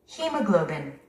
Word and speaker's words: hemoglobin: 우리 한국인들은 이 단어를 헤모글로빈이라고 하죠. 근데 원어민들은 hemoglobin. hemoglobin. hemoglobin. 스트레스가 맨 앞에 있고요. 또 어떤 원어민들은 이렇게 발음도 합니다. hemoglobin 또는 hemoglobin 이렇게도 발음합니다. 그러니까 우리는 다 알고 있어야만 합니다.